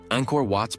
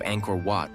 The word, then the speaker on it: Angkor Wat: Travel guides, documentaries, and online platforms can teach the authentic pronunciation, demonstrating the soft A of Angkor, the nasal NG, the short O, and the delicate clipped T of Wat.